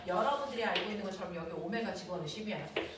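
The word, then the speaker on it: ω: 알고 있는 것처럼 여기 오메가 집어넣 심이 선 속도는 각속도에 반지는 곱한 값이니 RW V RW 이거 밖에나가서 W 그러면 안 돼 오메가라고 읽어 됐어 보이는 되겠습니까 그래서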